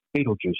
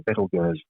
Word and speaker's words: Betelgeuse: At one end you've got Rigel, on the other end you've got Betelgeuse, or Betelgeuse, as it probably should be pronounced.